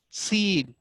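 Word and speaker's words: سين: The other one is seen। Seen is also Safiriya letter। It's pronounced from the tip of the tongue and the inner edges of upper and lower teeth।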